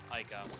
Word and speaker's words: Ica: It's spelled with an I-K-A. Yeah, Mika. Right? M-I-K-A? No, I-K. Username, I-K. Oh, my bad. Ica.